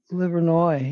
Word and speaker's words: Livernois: Livernois, yes, but the S is silent.